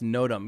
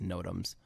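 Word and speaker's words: NOTAM: we're working on it film crew tech it's pronounced nodum yes i know and i know this but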